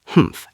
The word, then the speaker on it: Hmph: If you read this story aloud, please pronounce hymphf exactly as it is spelled, for that is how he said it.